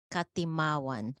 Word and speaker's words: Katimawan: Is that Katimawan like from Timawa? Katimawan.